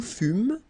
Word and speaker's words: fûmes: Okay, then nous fûmes, final S not pronounced.